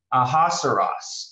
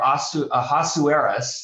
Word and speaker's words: Ahasuerus: one incidentally is uh the persian name for ahaceros or ahasuerus there are two pronunciations and he is the